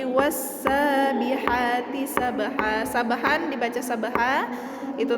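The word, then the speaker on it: والسابحات: Jadi cara bacanya wassa, bukan walsa, tapi wassabihati sabha.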